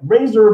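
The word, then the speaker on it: RASSOR: I'm going to be talking about experts about several different robots that NASA is working on, one being the Razor. Sounds like Razor, but it's spelled R-A-S-S-O-R.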